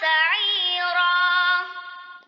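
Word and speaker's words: سَعِيرًا: Wa yasla sa'ira. Yang perlu diperhatikan di sini yang pertama wayaslah ya. La-nya panjang satu ayunan. Kemudian sa'ira. Ainnya panjang satu ayunan dan ro-nya juga panjang satu ayunan ya.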